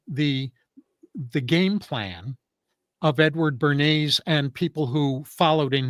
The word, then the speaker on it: Bernays: So what he did in his books, his name was Edward Bernays, not spelled like the sauce, but spelled Bernays.